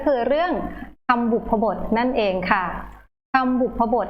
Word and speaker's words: บุพบท: ใน ประโยค นะ คะ คำ นี้ นะ คะ อ่าน ว่า บุพบท นะ คะ คำ บุพบท นะ คะ